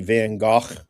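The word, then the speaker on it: Van Gogh: Um the artwork behind me, that is actually just a print of the um Van I'll say it correctly, the Van Go uh painting.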